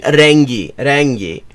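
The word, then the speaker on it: renk: Reng is color, which it is written this way, and it's pronounced reng in Turkish, because it comes from Persian, from Farsi, where it's reng, but it is actually, but it also exists in Hindi, where it's rang. Bayağı açılmış.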